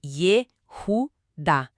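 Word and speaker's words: יהודה: A pronúncia correta é Yehudá.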